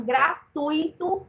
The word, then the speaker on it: gratuito: entendi em inglês é tão não é então gratuito é a forma correta de se você mas